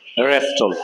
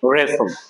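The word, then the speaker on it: wrestle: এস টি এল ই এটা অনেকেই বলবে রেস্টল না এটা হবে রেসল কি হবে রেসল তো সুপ্রিয় ভিউয়ার্স আশা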